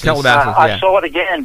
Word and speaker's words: Calabasas: However, I happened to find myself on the freeway 101 heading south at around 9:45 p.m., passing Calabasas, I believe that's pronounced. Calabasas. Calabasas.